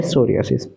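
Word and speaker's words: psoriasis: 2021 में सोरिस अब य पर प क्या साइलेंट है इसको यह नहीं कि पी सोरियास प सोसिस नहीं सोरियास क्या सोरियास सोरियास इज a chronic रिकेंट inflammatory disease of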